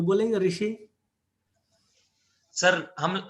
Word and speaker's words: ऋषि: सर हम हमारे यहाँ पर री बोलते हैं, री री ऋषि। उत्तर भारत में री ऋषि है, दक्षिण भारत में अगर कर्नाटक से आप तो रू बोलते हैं, रू बोलते हैं, ऐसा उच्चारण मिलेगा।